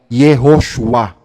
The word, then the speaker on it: Yehoshua: ng pangalang Yeshua ay yehoshua jehoshua ang complete pronunciation ng Yeshua so pinaikli at yung